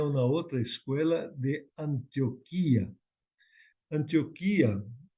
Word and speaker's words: Antioquía: Antioquía, o otros lo pronuncian Antioquia, Antioquía, estaba cerca del mar, ahí por la región de la Palestina.